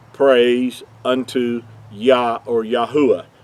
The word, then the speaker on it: Yahuah: praise unto yah or yahuwah yahuwah being his whole name pronounced out with the four letters instead of the two